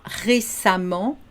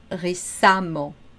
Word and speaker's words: récemment: Même si on a un E, on va le prononcer comme un A. Récent, récemment.